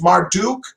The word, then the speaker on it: Marduk: kinds of different ways marduk duck uh i like the way you said it almost in the um babylonian style marduk like zacharias sitchin